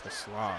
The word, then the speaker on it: Taysom: Taysom, that's how you say his name.